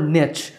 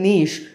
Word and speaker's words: niche: pronunciation in British English nowadays I personally prefer niche because saying niche might make you sound artificial but of course both niche and niche are acceptable alright I hope you